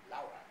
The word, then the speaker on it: Laura: Now, as Dante has his Beatrice, so Petrarch has Laura, although the pretentious pronunciation is Laura.